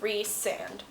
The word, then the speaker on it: Rhysand: I looked at the pronunciation guide, said Rhysand. Gonna go with Rhysand.